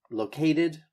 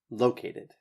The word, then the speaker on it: located: Emphasize this first syllable. Located. No. Located. Yes. I think the word you're looking for is actually architecture.